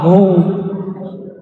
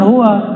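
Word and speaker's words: هو: la ilahaillah hu ya Hu bacanya hu jangan Hua kecuali disambung panjang enggak Hunya laahaillahu pakai nafas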